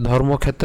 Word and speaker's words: ধর্মক্ষেত্রে: তাহলে এখানে যেহেতু আমাদের ধর্মক্ষেত্র রয়েছে ধর্মক্ষেত্রে তা আমি কি করলাম প্রথমে এখানে ক পর্যন্ত উচ্চারণ করেছি অর্থাৎ ধর্মক ধর্মক এরপরে মূর্ধনসের সাথে এ কাটা নিয়ে গিয়ে ক্ষেত্রে উচ্চারণ করলাম ঠিক আছে তাহলে খুবই সহজ